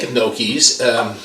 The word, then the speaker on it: gnocchi: Now, how you make gnocchis, I'll throw the spelling up there for you, and it's pronounced gnocchis.